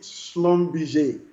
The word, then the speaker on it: Schlumberger: for french all right the pronunciation is actually slum bj all okay so uh